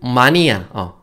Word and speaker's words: 마니아: 자, 다음 단어에 있는 마니아. 이거 영어로 읽으면 그냥 매니아거든요. 원래는 매니아가 맞는데 이 마니아가 또 표준 맞춤법이라고 해요. 그래서 여러분은 그냥 매니아라고 읽으셔도 상관없습니다.